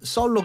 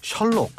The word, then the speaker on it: 썰록: 장면 승부 3부 여야 썰록 있니다 근데이 록을 발음을 잘못하면 셜록 셜록 하면 여러분 누가 생각나세요 셜롯